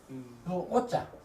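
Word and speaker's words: 惡: 대중이 오지라도 오자 미워하다 싫어하다 그 말입니다. 싫어하다 미워하다 싫어하다 나쁘다 하면 악이고 악으로 발음하고 미워하다 싫어하다 하면 오로 발음하고 또 어찌 오호라. 하는 말도 오로 발음하고 이렇습니다. 그러니까 여기서는 미워할 오, 싫어할 오.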